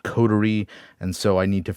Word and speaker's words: Coterie: have to fix and it didn't pronounce the name of the website correctly it said cottery not codery and so I need